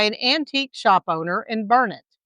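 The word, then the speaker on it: Burnet: including Mahaya, not Mexia, Bernett, not Bernett, and Palestine, not Palestine. On that trip, she was dubbed my sidekick by an antique shop owner in Bernett, not Bernett.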